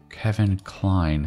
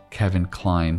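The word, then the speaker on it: Kevin Kline: Kevin Klein, 7-9. Hang on a second. Kevin rhymes with 7, and Klein rhymes with 9. Kevin Klein, 7-9.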